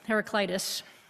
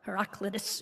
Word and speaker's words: Heraclitus: to protect each other Greek philosopher heraclitus or heraclitus if you are Greek there's lots of different pronunciations on the web but most of us decide it's heraclitus is credited Ed with